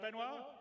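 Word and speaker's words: Benoît: CTO benoir bezer did I say it right benoir yeah okay good I'm always bad with French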